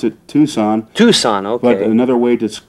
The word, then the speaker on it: Tucson: had to ask the bartender if i'm into tuxon or how do you spell the okay okay we pronounce it tucson tucson but another way to call it if